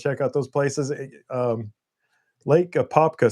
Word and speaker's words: Apopka: I never can pronounce that. Popka. Apopka, yeah, Yeah.